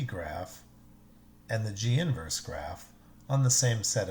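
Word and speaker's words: G⁻¹: over it it's pronounced G inverse do not call it G -1 and don't even think of the negative 1 as an exponent it's not it's simply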